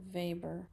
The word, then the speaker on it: Weber: V which is written out Weber but it's pronounced vber um and then Politics as vocation so he